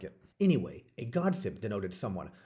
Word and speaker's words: godsibb: And gossip was back in the days of Old English, pronounced godsib, which, if you go even further back, was a combination of two words, God and sib.